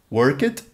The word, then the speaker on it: worked: Worked /d/, /id/ ou /t/? worked, /t/ Loved loved, /d/ Added added /id/ Veja esses exemplos: Som